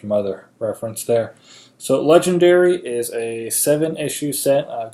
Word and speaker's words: Legenderry: Again, the name is Legendary, but spelled D-E-R-R-Y.